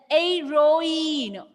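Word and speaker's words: héroïne: Then heroine, O-in, both are separate.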